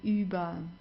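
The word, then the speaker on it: über: have to do here just pronounce it like an a uber okay so not u u or anything it's Uber okay good then the next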